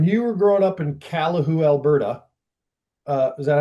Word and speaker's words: Calahoo: When you were growing up in Calahoo, Alberta, is that how you say it?